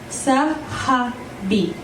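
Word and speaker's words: صاحبي: Okay, so the next word we're going to learn is 3 syllables. Sahabi. Sahabi. Try it. Sahabi. Perfect. A little faster is sahabi.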